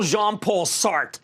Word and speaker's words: Jean-Paul Sartre: It's going full Jean-Paul Sartre. You don't pronounce the R-E.